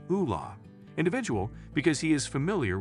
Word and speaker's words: Ole: Even though Roy is a petty tyrant with fascist leanings, he determines it might be time to investigate the situation surrounding this Ole, pronounced Ula, individual because he is familiar with how investigations are conducted.